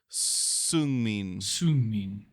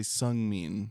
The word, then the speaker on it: Seungmin: Tonight, we watched SKZ All Night, and we learned how to correctly pronounce Seungmin. So we'll do our best not to say Seungmin. Yeah. Even though I hear lots of English speakers say it that way, it's clearly incorrect.